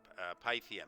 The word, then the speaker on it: Pythium: americans would say okay pythium yeah because the py the py says to me pi but pythium maybe you know maybe like the y is silent it's a pythium pythium